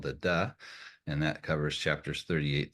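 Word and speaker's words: 德: It's still pronounced da, but it's just a prior way of transliterating from Chinese into English.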